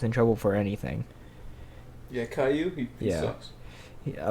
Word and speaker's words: Caillou: Caillou? Caillou.